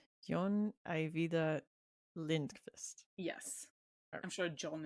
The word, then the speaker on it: John Ajvide Lindqvist: And what was the pronunciation for his last name? Because I've been Oh, it's John Ajvide Lindqvist. Jon Ajvide Lindqvist.